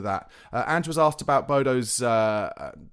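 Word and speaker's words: Bodø: Andrew was asked about Bodo's uh their official pronunciation in Norwegian is actually burder, but I can't bring myself to say that. So I'm just going to say Bodo.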